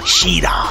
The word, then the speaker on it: Schirach: Well, I think he pronounces it Schirach. Ah. With as much sort of drama as that as well. And he's usually baring his teeth, his vampiric gnashes at you when he says that. But yeah, I wasn't sure how to pronounce it for years. Schirach. I used to say Schirach.